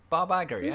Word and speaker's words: Iger: says dot dot if you feel like I butchered what that name Bob Iger that his name Bob Iger Bob Iger just use the CEO of Disney